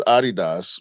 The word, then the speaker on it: Adidas: I think it's Adidas because it's Adi Dassler.